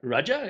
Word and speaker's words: Raja: here is the kaiser raja raja as in an indian monarch kaiser as in a german emperor i know i know it's spelt differently never mind that so